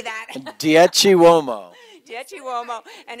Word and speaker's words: Dieci Uomo: Dieci Uomo.